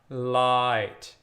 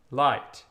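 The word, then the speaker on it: Leid: So if you go to the word light, L-E-I-D, you're going to say the second one, the I. Light. Light.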